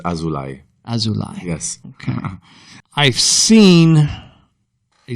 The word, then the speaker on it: Azulay: last name here uh the pronunciation is azulai yes okay I've seen